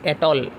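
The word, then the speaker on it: atoll: After isthmus there is एटॉल. What is एटॉल? एटॉल माने सीटा English रो एटॉल नहीं, एटोल यू can pronounce it like this.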